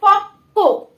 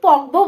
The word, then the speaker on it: পক্ক: এটা আমরা কখনো পক্ব বলবো না, অনেকেই কিন্তু বলতে পারে, বাট এটার উচ্চারণ কিন্তু পক্ক, ডাবল উচ্চারণ হবে কয়ের। দেখো প ক যুক্ত ব, পক্ক। ঠিক আছে, নট পকব, এটা কিন্তু পক্ক।